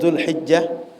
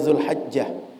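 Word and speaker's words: ذو الحجة: yaitu bulan Dzulqa'dah, kemudian Dzulhijjah, sebagian bacanya Dzulhajjah. Sehingga Bapak Ibu kalau berjumpa Dzulqa'dah, Dzulqa'dah, keduanya diterima orang Arab. Kemudian Dzulhajjah, Dzulhijjah, keduanya diterima oleh orang Arab.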